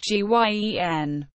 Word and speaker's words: Guion: Letroy Shelton Guion Jr., pronounced Guien, born June 21, 1987, is an American football defensive tackle who is currently a free agent.